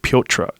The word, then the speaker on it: Petr: Jimmy Rivera and Petroyan. Petroyan. Piotr. I think you're supposed to say Piotr.